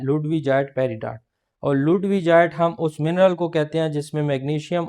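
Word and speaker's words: ludwigite: फिर बोलते हैं लुडविजाइट इसकी दो किस्म की प्रोनाउंसिएशन है लुडविगाइट भी बोला जाता है लुडविजाइट भी बोला जाता है। लेकिन जो असल प्रोनाउंसिएशन है वो है लुडविजाइट पेरिडॉर्ट।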